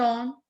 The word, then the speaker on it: et: What we say ET in French? Yes, ET is and. Ma'am, pronunciation. A. Ma'am, pronunciation. Just A. It's A.